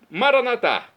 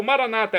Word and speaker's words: Maranatá: Maranatá, como dizemos nós católicos, ou Maranata agora, como dizem nossos irmãos separados das comunidades evangélicas ou protestantes. Não importa a pronúncia, o significado é o mesmo.